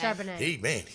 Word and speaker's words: Charbonnet: Is that how you pronounce it? Charbonnet. Oh my gosh. He's tough. He can really I hit like the him hole. because I like Chardonnay. Yeah, it sounds the same.